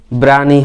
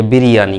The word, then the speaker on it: biryani: তাহলে my favourite food is বিরিয়ানি, ব্রানি হয় না আসলে, বিরিয়ানি, কথাটা হয় বিরিয়ানি।